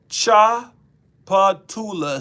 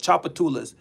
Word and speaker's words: Tchoupitoulas: Tchoupitoulas Street. That's literally what it's called. Tchoupitoulas. Why is that T in the front? That T is not necessary.